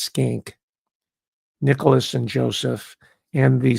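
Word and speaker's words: Schenck: it's spelled s c hen c k it's pronounced skink Nicholas and Joseph and the subtitle is power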